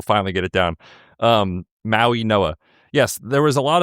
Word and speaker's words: Mauigoa: Francis Mauigoa, the offensive tackle, who I can pronounce his name perfectly this week? Mauigoa. Mauigoa.